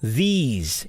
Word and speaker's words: these: is length time because if you take this this okay these know these it's longer right say it this car